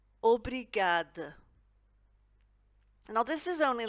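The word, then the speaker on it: obrigado: for thank you and we pronounce it aubry gada obrigad now this is only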